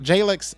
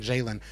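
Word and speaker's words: Jalyx: Yeah, and Jalen Hunt, Jalix, I got to say it right. I keep saying Jalen.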